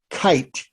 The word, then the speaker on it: Keith: a man called max kite it spelled like the last name keith but pronounced like a kite in the sky created a new product